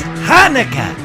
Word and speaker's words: Hanukkah: To tomorrow, we're going to have a special show that features Chanukah. Is that how you say it, Schmucky? No. Jonica. How do you say it? It's Hanukkah.